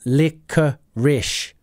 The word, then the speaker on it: licorice: it's not cinnamon it's licorice licorice look at the pronunciation of that licorish licorice licorice does anyone like licorice